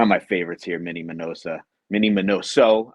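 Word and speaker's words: Miñoso: my favorites here, Mini Minoso. I always pronounce his name wrong, so if you hear me say Minosa, just correct me in your head.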